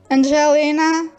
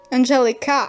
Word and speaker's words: Angelica: the last panel um angelina uh no angelica i'm sorry i'm mispronouncing my own character name angelica uses her um